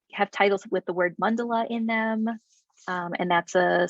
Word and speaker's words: mandala: of the word mandala, which also often gets pronounced mandala in English, right? But it's mandala.